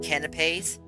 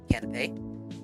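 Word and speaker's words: canapé: actually just sandwiches when I was talking about canipes canipes c a n a p e is how you spell it canop canipes are a simple sandwich with the cut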